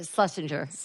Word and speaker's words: Shlesinger: but Eliza Shh was hotties your last name shale singer iliza shlesinger / oh that's how you say it what